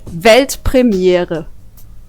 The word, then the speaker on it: Weltpremiere: It's actually Weltpremiere. Pretty similar, yeah, right? I think I could do that. Yeah, do it. Weltpremiere.